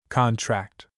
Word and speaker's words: contract: Many words differ in meaning according to which syllable receives the accent. Our spelling lesson for this week contains a number of these words. These words when accented on the first syllable are nouns. When accented on the second syllable they are verbs.